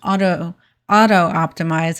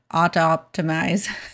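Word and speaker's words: Autoptimize: Another one to consider is auto optimize. It's kind of hard to say. There's only one O in there, so it's hard to say auto optimize, I guess would be the way you pronounce it.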